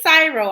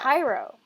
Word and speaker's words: Cryo: You know, like It's not pronounced Cyro though. then what is it pronounced as? Cairo. How come? You know, like cryogenic, that's like to do with ice. You know, like cryogenic chambers. It's like ice chambers. That's where the word is from.